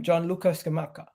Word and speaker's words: Gianluca Scamacca: Today, we're going to be talking about how do you pronounce his name? Gianluca Scamacca.